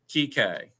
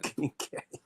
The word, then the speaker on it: Kike: And so how do you say Kike? Kike. Kike, gotcha. No N though in there, right? Correct, no N. Kike.